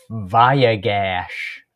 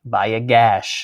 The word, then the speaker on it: Vayigash: week 11 and how do you say this viag gash viag gash sounds like you need to cover that or